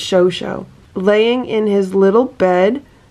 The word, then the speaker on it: Chocho: here is my chocho oh it's pronounced show show okay it's show show laying in his little